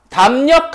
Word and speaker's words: 담력: 자, 그 다음에 담력 한번 봐볼게. 담력 같은 경우에는 발음 어떻게 돼요? 력으로 발음이 돼요. 리을이 뭐로 바뀌었어? 니은으로 바뀌었지.